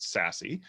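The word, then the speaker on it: SASE: something called secure access service edge which is pronounced sassy craig i know that vmware has really been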